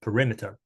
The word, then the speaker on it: perimeter: this one right um sounds like pure um pur meter perimeter perimeter okay um yeah I I think yeah I think that's the the right the right one yeah stressed syllable that's the the rim perimeter okay so that's uh